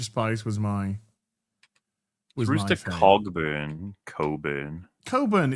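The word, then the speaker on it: Cogburn: Coburn. It's a silent G. You're the Coburn. worst. That's pronounced Coburn. You don't pronounce the G.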